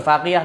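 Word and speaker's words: فاغية: Lebih kurang macam bunga betul, faghiyah tu betul ejaannya begitu. Faghiyah. Kalau Arab fa alif ghin ya ta marbutah.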